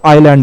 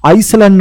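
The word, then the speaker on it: island: পাশ দিয়ে না প্রচুর আইল্যান্ড আছে। স্যার এটার উচ্চারণ কি আইসল্যান্ড নয় কিন্তু আইল্যান্ড করব, ঠিক আছে।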